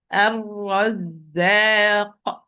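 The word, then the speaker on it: الرزاق: I'm going to recite this word correctly. It's ar-razzaq. First ra is sakin, so give it its time بينية, and it's مفخم, it's heavy, because the second ra is having fatha.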